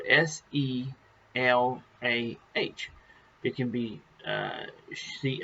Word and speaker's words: Selah: it's in the bible it's called sheila now it's spelled s-e-l-a-h it can be uh see i i pronounce